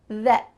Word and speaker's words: that: That. That. It kind of sounds like an E sound.